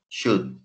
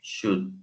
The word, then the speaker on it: should: Should, primeramente la pronunciación, should, should. Alguna gente cuando está aprendiendo dice should, pero no es should. Solamente dice should, sencillo de pronunciar.